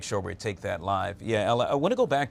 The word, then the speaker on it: Yael: Once again, ma'am, your correct name, the pronunciation of your name? It's Yael. Yael.